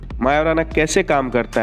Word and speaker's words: Majorana: one chip है क्या वैसे इसको पढ़ते हैं तो मजो राना होता है बट इसका नाम मायो राना है क्योंकि इसका जो जे है वो साइलेंट है ये कोई ऑर्डिनरी कंप्यूटर